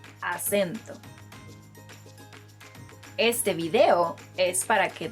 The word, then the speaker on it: acento: I know the word in English and the word in Spanish look very similar, but they are pronounced differently. So instead of acento, say acento.